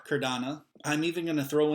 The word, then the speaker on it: Cardano: Cardano. Cardano. Cardano.